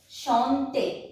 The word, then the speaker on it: chanter: First one is chanter. C-H-A-N-T-E-R. Chanter. Chanter means to sing. I have told you earlier that the word CH is pronounced as sh in French.